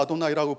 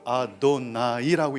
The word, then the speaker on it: 아도나이: 유대인들은 하나님의 거룩한 이름을 망령되이 부를 수 없다고 해서 아도나이라고 부른다고 했어요. 기억하세요. 야훼라는 히브리 글자를 못 읽어요. 너무 거룩한 이름이라서 거기 밑에 있는 모음만 읽어요. 따서 그걸 아도나이라고 읽는 거예요.